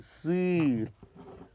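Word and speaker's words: сыр: It's pronounced not not It's sir.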